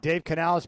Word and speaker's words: Dave Canales: Uh Dave Canales, how do you is that did I did I pronounce his name right? You got it right. Dave Canales, baby, you nailed it.